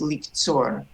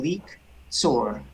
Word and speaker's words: לקצור: Let's stop there with liktzor. oh yes That would be a stop sign shva, so we'd close a syllable liktzor.